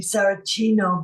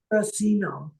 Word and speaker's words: Saracino: The Italian pronunciation would be Saracino, but here in America, okay, Saracino, because assimilation, you know. Oh. Yeah, but either way, I answer to both.